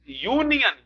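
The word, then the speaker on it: union: अब ये पहले बताइए, यू से शुरू हुआ लेकिन इसका उच्चारण यूनियन य से हो रहा है तो अयूनियन हो जाएगा।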